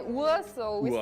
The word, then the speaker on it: Uhr: Uhr. Uhr. Because we have the name for watch and clock is the same in Afrikaans. It's horlosie. Horlosie or a cat, yeah. Yeah, we just say Uhr, so we Uhr.